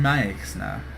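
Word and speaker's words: Maexxna: but uh next we're going to take on Mya is apparently how you pronounce it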